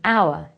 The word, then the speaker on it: hour: the letter for example that H in our is pronounced as a vowel sound so it is an hour but the H in